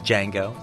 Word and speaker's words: Django: and down ask him his name Jamie says Django can you spell it and then he spells the whole thing